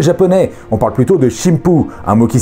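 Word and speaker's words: しんぷう: On parle plutôt de shimpu, un mot qui s'écrit de la même manière, mais qui va utiliser les prononciations sino-japonaises des caractères.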